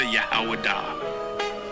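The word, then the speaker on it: יהודה: When I say Judah, Yahawadah. That is the ancient pronunciation of the word.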